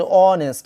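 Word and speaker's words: honest: আমি আরেকটা লিখে দিচ্ছি যে অনেস্ট, আমি এটা লিখে দিছিলাম অনেস্ট ম্যান মানে সৎ মানুষ।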